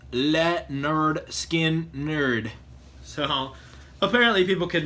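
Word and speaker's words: Lynyrd Skynyrd: I think it's funny because this actually says pronounced let nerd skin nerd so apparently people could not pronounce it back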